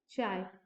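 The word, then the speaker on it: χ: तो magnetic susceptibility को चाय एम से डिनोट करते हैं, इसको क्या प्रोनाउंस करते हैं, चाय, चाय एम से डिनोट करते हैं।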